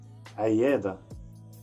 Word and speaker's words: عيادة: Clinic in Egyptian Arabic, عيادة. Try to pronounce the letter عين, عين, and say this word again, عيادة.